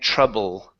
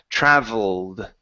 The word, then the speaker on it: traveled: So if you pronounce a B, it almost sounds like you're saying trouble. Troubled. Okay, but it's a V sound, so it's a vibration. V, traveled.